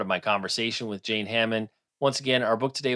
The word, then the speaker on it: Hamon: My last name is spelled H-A-M-O-N, like ham on rye.